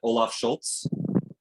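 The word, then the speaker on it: Scholz: That's at least how I pronounce it, Olaf Schultz.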